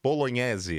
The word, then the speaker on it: Bolognesi: Hoje estou com nada mais, nada menos do que Bolognese. É assim que se pronuncia? Assim mesmo.